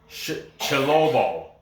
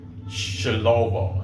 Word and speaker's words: Tshilobo: But Impa Kasanganay, his nickname is Chilobo. Like Shinobi, because it's spelled with a T, Tshilobo. Chilobo.